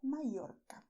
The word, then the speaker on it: Mallorca: And, you say Mallorca in Spanish or Mallorca. Mallorca, Mallorca. Both are correct.